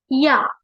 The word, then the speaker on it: Ja: J අකුර අපි pronounce කරන්නේ ය sound එකෙන්. ජර්මන් වල ඒ විදිහට තමයි pronounce කරන්නේ J අකුර. ඒ නිසා අපි යා කියලා කියනවා.